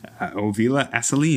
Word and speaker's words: Ovila: who do we got here i can't even pronounce his name yeah let alone dispense information oh villa aseline ovila yes sorry folks um i've now a name